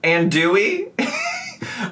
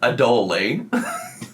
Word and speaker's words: andouille: And Dewey? I love how she just skipped over the letter N in the word andouille and came up with addoli.